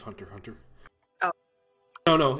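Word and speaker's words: Hunter × Hunter: i just got into hunter versus hunter or hunter x hunter oh so good you know the x is not even pronounced it's just hunter hunter oh i don't know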